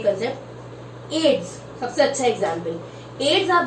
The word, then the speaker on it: AIDS: लेकिन एड्स को कभी अपन ऐसे नहीं बोलते AIDS, एड्स उसको AIDS हुआ है ना, अपन उसको प्रोनाउंस ही एड्स करते हैं।